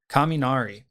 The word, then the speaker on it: kaminari: TODAY'S LANCE'S LESSONS IS GOING TO BE the Japanese word for thunder and thunder is kaminari and kaminari is spelled k a m i n a r i.